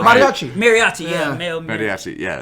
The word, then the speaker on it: Mariachi: No, El Mariachi. Say it right. Mariachi.